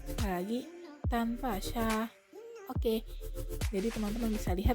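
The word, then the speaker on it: 登巴萨: Oke, jadi cara bacanya yaitu tanpa sya. Aku ulangi sekali lagi. Tanpa sya. Sekali lagi. Tanpa sya.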